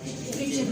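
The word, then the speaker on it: kitchen: है वो है कि टी जब भी CH LE और EN इनसे पहले आएगा तो टी हमेशा साइलेंट रखा जाएगा। फॉर एग्जाम्पल हम छोटे छोटे एग्जाम्पल लेते हैं। पहला एग्जाम्पल हमारा है किचन। अगर आप इस वर्ड को और से देखो तो आप किचन नहीं पढ़ते, आप क्या प्रोनाउंस करते हो? किचन प्रोनाउंस करते हो, क्योंकि टी जो है CH से पहले आ रहा है।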